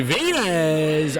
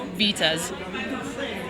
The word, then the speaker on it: Vitez: and we're back with our next guest venz I always said it wrong how do